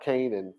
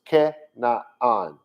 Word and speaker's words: Canaan: the land of canada and they call that canaan for some reason i don't really know it's not pronounced that way and then some will say